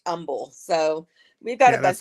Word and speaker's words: Humble: have one that's spelled we have one that's spelled humble but it's pronounced Umble so we've got a